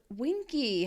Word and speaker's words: Winky: It's Winky. How cool. Rhymes with Twinkie.